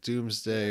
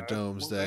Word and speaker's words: Domesday: I think either is correct. Doomsday or Domesday.